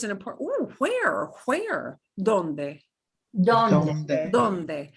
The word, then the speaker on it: donde: Donde. Donde. Donde. And notice no silent E at the end.